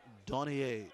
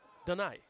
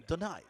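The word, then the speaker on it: Donaie: Giving Darren Donier some thing to worry about. Did I pronounce it wrong? Donai. Donai. Yeah. Oh, St. Lucian. Oh, so we can't say Dunai.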